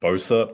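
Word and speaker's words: Boeser: big news with Brock Bosa never actually had to say his last name out loud um but I believe that is how it's pronounced um he is out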